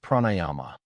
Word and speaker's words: pranayama: Yogic breathing practices are called pranayama pronounced pranayyama which means expansion and regulation of life energy through breath.